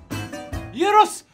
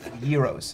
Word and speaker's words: gyros: Gyros. They call it Gyros. Gyros, yeah, so the G is pronounced Y.